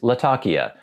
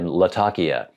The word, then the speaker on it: Latakia: blend has a lot of burly Latakia it's just not the way we mostly say it we mostly say lakia and this delves into